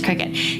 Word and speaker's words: Cricut: how you say it I want to say circuit but I think it's Cricut and I used that